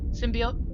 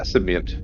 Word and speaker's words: symbiont: of secretive about the symbiote process. Is that the right word? Symbiote? Yeah, symbiont. Yeah, with an NT. That's a common mispronunciation.